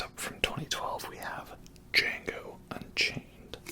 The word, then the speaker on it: Django: Next up from 2012 we have Django Unchained. The D is silent, hillbilly.